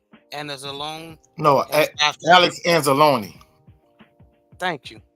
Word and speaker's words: Anzalone: And then Alex Alazone, and I can't pronounce his name, Anzalone.